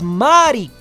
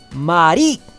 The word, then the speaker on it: Mari: el acento cambia y está en ma por eso en Italia es Mari mientras en español el acento está en ri Mari en Japón Si no me falla el oído también se usa el acento en ri se acuerdan que muchos